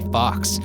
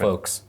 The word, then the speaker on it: Fawkes: Fawkes. I don't know how it's pronounced. F-A-W-K-E-S. I thought it was Fox. I think Fox.